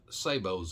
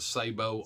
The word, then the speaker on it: sabot: bullets already has a sabo on it so the sabo is separate some people call this a sabot but it's not it's pronounced sabo because it's french for thingy that goes